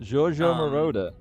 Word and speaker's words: Giorgio Moroder: Is that how you pronounce his name? Giorgio Moroder.